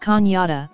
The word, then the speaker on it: Cañada: La Canada comes from the Spanish word Canada, pronounced cañada, meaning canyon, gorge, or ravine.